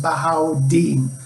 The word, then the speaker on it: Bahaudin: dean for short because my first name is pronounced bahau deen i graduated from addison